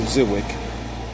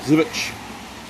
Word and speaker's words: Żywiec: Again, I've been pronouncing it Zwick for, so forgive me for the mispronunciation.